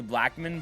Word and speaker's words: Blackmon: It's definitely Blackman, but I don't know. That's how it's spelled.